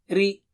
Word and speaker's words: رِ: By the way, ri is thin. Ra and ru are thick. So ra, ri and ru. Repeat. Ra, ri, ru, ra, ri, ru, ra, ri, ru, ra, ri, ru.